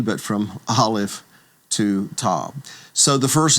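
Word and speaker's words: aleph: to Z, but from Olive to Tab. So, the first letter of course is the letter called olive and olive you should know is a silent letter.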